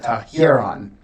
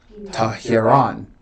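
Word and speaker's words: ἱερόν: I had the accent in the wrong place. I said Tahiron. I said it neutrally. It should be Tahiron. Right? Why? Because the accent is over the ultima, the last syllable.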